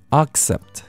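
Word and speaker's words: accept: 라고 의미를 갖게 되죠 그렇지만 많은 분들은 이 발음 때문에 힘들어 하십니다 악사 즉 이걸 발음할 때는 이를 크게 아로 벌 2시면 되구요 xi 이거는 애에 발음을 하시면 됩니다 그렇다면 마 링크 링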